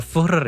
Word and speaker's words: Führer: Di tahun 1913, dia itu bukan seorang Führer atau Führer ya cara bacanya, atau pemimpin tertinggi di Jerman, seorang seniman gagal yang gagal masuk sekolah seni.